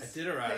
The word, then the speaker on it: Iditarod: Iditarod is that. Thank you. You learn a new pronunciation every day.